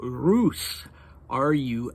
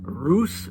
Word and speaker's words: Rus: Uh okay so then Dimmitri refers to Roose Rs and in Russia in Russian it has something called a soft sign uh that's not pronounced.